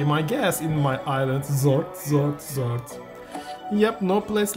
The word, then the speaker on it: X'rt: so this is Zord xrt means zort to me actually this is zort yeah no no worries just zort because when you pronounce yet Xavier it begins with x so this is zart definitely like a fart sound interesting welcome to the